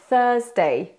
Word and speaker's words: Thursday: e a en anglais on prononce pas le r quand il est avant une consonne donc ça va être